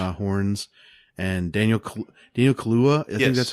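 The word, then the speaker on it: Kaluuya: oh my gosh horns and Daniel Cole Dino Kahlua that's how you say it I got from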